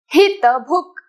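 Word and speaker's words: हितभुक्: Hitabhuk. Okay, so the ka is halan, so don't emphasize on ka. It's just bhuk, not bhuka.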